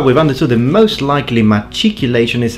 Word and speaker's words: machicolation: Okay, so far the pronunciation machicolation seems to be the most probable, but I still have a lot of data for you.